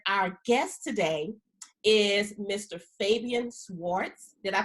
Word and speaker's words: Fabian Schwartz: Fabian Swartz did I pronounce that correctly yes yes that's correct okay